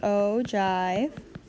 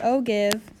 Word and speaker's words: ogive: is called this is called an ogive it's pronounced ogive not ogive it's a chive and this is another line